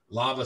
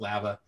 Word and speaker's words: Lava: whatever if they're at lava springs or wherever anyone's going it's not pronounced lava so if anybody in here's from idaho it is lava so uh if you're